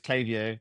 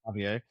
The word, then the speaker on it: Klaviyo: It's Claio, not Clavio.